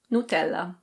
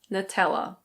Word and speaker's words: Nutella: This is an Italian brand and in Italian it's pronounced Nutella. Nutella. But in English we say Nutella.